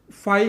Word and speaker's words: phi: अगर मैं स्पैल करा तो स्पैल होएगा PHI, बट नीड नहीं है इसको स्पैल करने की, आप जस्ट इसकी प्रोनाउंसिएशन फाई ही यूज़ करनी है और सिंबल देना है वाला, राइट।